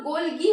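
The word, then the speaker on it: Golgi: आगे हम बात करते हैं गोल्जी बॉडीज की। किसकी? गोल्जी बॉडीज की। ठीक, कुछ लोग गोल्गी बॉडी भी बोलते हैं, मैंने सुना है, तो वो आप पे डिपेंड करता है।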